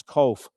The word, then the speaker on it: Cobh: And it's one of the few words in Irish language that the pronunciation is the same as it is in English. COBH is cove, but COVE is the English version of cove.